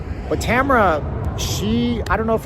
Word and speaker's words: Tamara: the channel named uh Tamara it's like camera but it's spelled Tamara t- M A R A okay now she's been